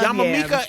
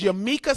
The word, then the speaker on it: Yamaneika: Yeah, and I know she's gonna be, she's gonna be so, Yamaneika, Yama Mika and she's gonna be like, girl, you never say my name, right? But it's Yamaneika Saunders .